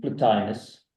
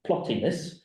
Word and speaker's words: Plotinus: indivisible is found in platinus in my mind I kept pronouncing it plottin that's what's beneficial to